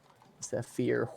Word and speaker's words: Zephyr: Also, isn't it a Y? It is a Y, You're a Y. but it is pronounced Zephyr. Zephyr what?